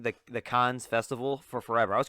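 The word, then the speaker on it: Cannes: was mispronouncing the the cons festival for forever i was calling the canez festival i didn't know how to pronounce it it's like ken it's like con like that's it you just don't like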